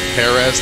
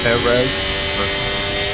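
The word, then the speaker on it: Pérez: jerez or Perez Sergio Perez that's how I want to say it I want to put like the r the first syllable Perez not Perez I feel like whenever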